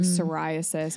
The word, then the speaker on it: psoriasis: just like why do we have the silent P I understand why people